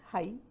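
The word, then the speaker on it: high: H-I-G-H हाई, हाई इन द स्काई. इसमें हम G को प्रोनाउंस नहीं कर रहे, साइलेंट लेटर है, लेकिन वो हमारे स्पेलिंग्स का हिस्सा है.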